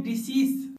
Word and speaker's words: decease: इस वर्ड का साउंड होता है डिजीज और इसका मीनिंग है बीमारी, जबकि इस दूसरे वर्ड का साउंड होता है डिसीज और जिसका मीनिंग था मृतक या मैयत।